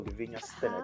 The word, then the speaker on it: Lavinya: Hello, Levenia. Hi. Yes. I hope I got her name correctly, the pronunciation, everything.